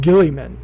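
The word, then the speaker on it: Guilliman: Reboot Gilliman. That's the way it's pronounced in all the media.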